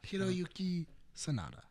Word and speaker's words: Hiroyuki Sanada: I found his name, but can you pronounce it, Nick? Hiroyuki Sanada.